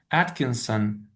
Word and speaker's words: Atkinson: As a child, Atkinson, do I pronounce his last name correctly?